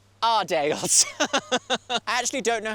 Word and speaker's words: Ardales: part of the job I can in fact confidently tell you it is pronounced adelay and it is located